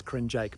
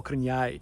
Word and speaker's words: Krnjaic: european man's body with an impossible surname to pronounce it's crin jake by the way or cringe if you want to be really authentic about